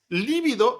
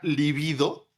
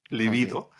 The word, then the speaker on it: libido: Líbido es una barbaridad. Esa palabra no existe. Ok. El concepto era libido, sin acento en la primera, libido, que lo acuñó Freud.